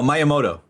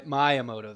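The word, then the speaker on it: Miyamoto: it at where's his name oh that oh myamoto my myamoto that's right okay I'm sorry so myamoto says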